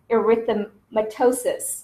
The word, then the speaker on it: erythematosus: chop up the how to pronounce it it's pronounced erythematosus okay so it's shortened to SLE and SLE